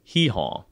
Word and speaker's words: Eeyore: some don't okay um Eeyore is a name invented by a kid with a non-erotic literally the nonr like British accent so that Eeyore would be pronounced very much like a donkey sound and an American version would be hehw so what Jason is saying here that Eeyore's name is basically like e like e or without the r so